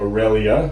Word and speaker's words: Aurelia: We're back in the Bethesda office, and we are thrilled to have Aurelia. Did I pronounce it correctly?